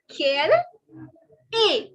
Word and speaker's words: quelle est: So what is your nationality in French is quelle est. Okay, it is not est. It is not est. As I told you, the S and T are silent.